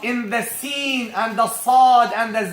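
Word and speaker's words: ص: First of all, to pronounce these 3 letters, you place the front part or the tip of your tongue at the lower teeth, at the base of the lower teeth, like this.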